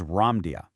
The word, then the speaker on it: Ramdia: So while popular culture generally refers to this lost landmass as Lemuria, the spiritual messages state that its true esoteric name, and actually the most accurate pronunciation, is Ramdia.